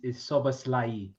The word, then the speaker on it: Szoboszlai: I am a Philistine hit that like button when it comes to Hungarian pronunciation. The way you say his name is Szoboszlai. Well, I'm going to say Szoboszlai because I prefer it.